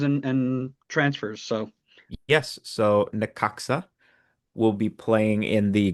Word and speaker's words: Necaxa: gonna get this pronunciation right as we go to the next team. It's Necaxa. Necaxa.